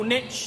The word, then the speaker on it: niche: as a bit confused because niche doesn't have a tee in it come on Americans spell it correctly pronounce it correctly what is a profitable niche niche and how do